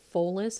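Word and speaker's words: follis: from a latin word i believe it's pronounced fullest it's spelled f-o-l-l-i-s forgive me if i've butchered that pronunciation but it means a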